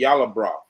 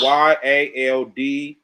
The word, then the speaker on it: Yaldabaoth: This demiurge is connected to the Yaldaboth. That's why. That's Yaldabaoth. Yaldaboth. Yeah, Yaldabaoth. Over here, on my computer, it's spelled Yaldaboth.